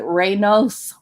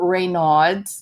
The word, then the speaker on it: Raynaud's: Raynaud's is spelled r-e-y-n-a-u-d-s if you talk to Medical Professional they're going to pronounce it reynos or Raynaud's depending on I guess where they grew up um and it